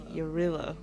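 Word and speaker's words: Jarilo: Okay, Eurilo. That's how you say it.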